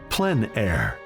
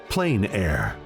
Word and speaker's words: plein air: open air or Outdoors the French pronounce it plen air others say plain air no matter how you